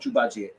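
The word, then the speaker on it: 猪八戒: Jubaji.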